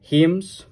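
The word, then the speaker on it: hymn: উনি রচনা করেছিলেন four হিমস poem H ওয়াই এম এন এটার উচ্চারণ কিন্তু হাইম না এটা ব্রিটিশরা এন্ড আমেরিকানরা প্রায় এই হিমের মত করে প্রোনাউন্স করে এন্ড হিম ইন অনার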